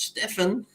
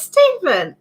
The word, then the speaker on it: Stephen: I reckon that's Stefan. Or is it Stephen? It's Stephen. Oh, Stephen. You tell us how to pronounce it, Stephen.